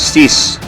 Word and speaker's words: cis: symbol here use this one some other professor pronounced this as cis cis abbreviation for cool sign i sign okay